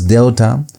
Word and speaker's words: delta: So this is delta. Delta is pronounced uh as D as in the word done.